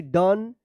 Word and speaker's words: done: होता है, लेकिन यहां पे ओ का अ उच्चारण हो रहा है। जैसे यहां पे देखिए DONE, डन, LOVE, लव पढ़ते हैं, उसी तरह से सम, इसको आप याद कर लीजिएगा, सम, BREAD, क्या पढ़ेंगे इसको?